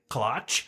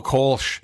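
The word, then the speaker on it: Kölsch: The Klotch. Oh, Kolsch.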